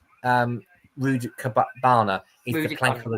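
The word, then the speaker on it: Rudakubana: It's the Southport murderer, Axel Rubikenko. Well, I've pronounced his name wrong already, but yeah, it's Axel Rudikabana is the plank of the week by a million miles for me.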